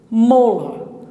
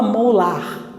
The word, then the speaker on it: molar: Molar. Você não fala molar, você fala molar. Então, o que acontece? Esse AR vai se transformar num schwa.